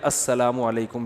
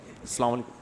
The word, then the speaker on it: السلام علیکم: علیکم اور صلی اللہ علیہ وسلم کا صحیح تلفظ بتا دیں. السلام علیکم کا ہے السلام علیکم, جو آج کل لوگوں نے ساشے پیش کر رہے ہیں سلام, السلام علیکم, ایسے سلام ہو رہا ہے السلام علیکم.